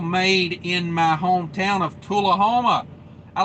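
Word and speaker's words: Tullahoma: in my hometown of tulahoma i like santoula homa all the locals hate that uh they pronounce it tula homa uh i grew up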